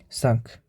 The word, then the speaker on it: cinq: Also, we have exceptions for like Q, C, L. It's L, R, and F. Well, these letters, in the end, it does pronounce. Like for Q, we have cinq. This means 5. And for C, we have avec. It's with in English. And L, for L, we have like we have hôtel.